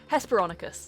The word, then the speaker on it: Hesperonychus: Hesperonychus, there we go.